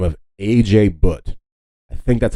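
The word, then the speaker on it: Ajay Bhatt: The main guy who created the USB is a man by the name of A.J. Butt. I think that's how you pronounce his name.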